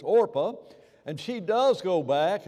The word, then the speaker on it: Orpah: anybody remember her name it rhymes with Oprah orpa all right orpa I